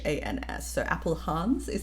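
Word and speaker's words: Appelhans: Chris Apple Hans. It's like Apple A P E L and then H A Ns. So, Apple Hans is how I would say it.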